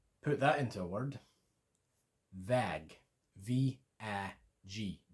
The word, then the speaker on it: Väg: The way I learned it was EH, the sound in English, as a pause. Similar, but a little bit different. Put that into a word. Väg. V-A-G. Väg.